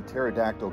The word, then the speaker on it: pterodactyl: can't you hear a pterodactyl go to the bathroom i don't know because the pee is silent nice hey i could